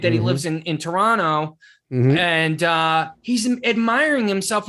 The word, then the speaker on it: Toronto: quebec quebec it's like toronto it is i always know an american because they'll go so you're from toronto you know that you know they pronounce that every syllable every syllable and but here you